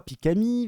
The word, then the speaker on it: xPikami: avec le X devant pourquoi le X ne se prononce pas pourquoi pikami vas-y explique-moi un petit